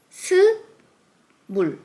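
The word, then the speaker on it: 스물: First, 20, the name of 20 in native Korean numbers is su mul su mul su mul and 30 seo run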